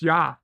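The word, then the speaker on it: ja: as in German J means yes and it's pronounced yah a word play on Deep Space Nine ah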